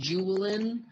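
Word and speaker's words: Juvelen: Danish so it's pronounced juin with sort of like a w because it's Danish for the word Jewel um and the theme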